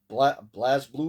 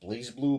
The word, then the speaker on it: BlazBlue: BlazBlue, or is it pronounced BlazeBlue? But there's no E at the end of Blaze, but I call it BlazBlue Continuum Shift 2.